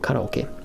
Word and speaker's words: karaoke: empty in japanese and it's not pronounced carrie as a matter of